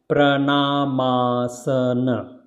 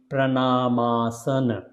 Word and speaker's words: Pranamasana: you change it because if you join these two words together so name becomes here it is written correctly it's called pranamasana so this a and this a become together then it will produce the big sound in between so it will come when you will say separately but when you put together it will be pranamasana and originally in Sanskrit